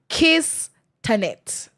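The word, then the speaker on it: KICTANet: ahead of the IWD, we have KICTA net Kiss Tanet is how it's pronounced, even though, that's weird.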